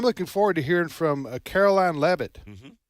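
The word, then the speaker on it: Karoline Leavitt: forward to hearing from Caroline levit is that her name yes that's exactly how you pronounce she's 27 years old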